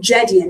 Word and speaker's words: Jedian: Shaheen Jedian. Am I pronouncing your last name?